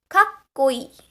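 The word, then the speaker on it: かっこいい: A word which has a double consonant sound, like you can say kakkoi. The k sound, the ko sound basically, is repeated, right? Twice. So you have to, it should click in your brain that there is a chi-side su over here.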